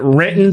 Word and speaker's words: Renton: going to say it you're gonna say it right written there's no T in the word written we say it without the without the tea yes yes I'm more